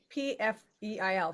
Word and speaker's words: Pfeil: And Yeah, the pronunciation of my last name is Pfeil.